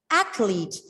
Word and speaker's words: athlete: Normally, some students pronounce the word as athlete. It is not athlete. It is athlete. And again, it is a noun with two syllables. The stress is on the first syllable.